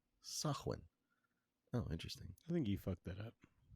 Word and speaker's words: Samhain: And it is pronounced Sah-win. Sah-win.